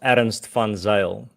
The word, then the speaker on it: Ernst van Zyl: So my name is pronounced Ernst van Zyl, but you can pronounce the surname. The best way to pronounce it would be like Fun Sail, like the sail of fun, Funsale.